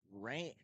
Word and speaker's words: Rayne: And Rain not spelled like either of the ways you'd normally spell Rain. Rain spelled Rayne.